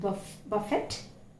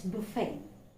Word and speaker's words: buffet: Remember, it's a French word, it's not buffet, it's buffet.